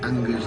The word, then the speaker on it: Unger: Marc Unger's name kept coming up. I said, it rhymes with hunger, so we must get this kid.